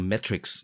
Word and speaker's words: Metrics: I C S นะ เมทริกซ์ นะ ครับ เป็น คำ ที่ ออก เสียง คล้าย ๆ กับ เมทริกซ์ ที่ เป็น หนัง นะ ครับ จริง ๆ มัน อ่าน